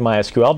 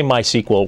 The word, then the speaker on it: MySQL: pronounce my ql and it's just like I said my SQL but if you say my sequel we're okay with that you are okay with